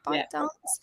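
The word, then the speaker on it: ByteDance: tick tock's owner by bite dance is how you say it by dance um they're showcasing a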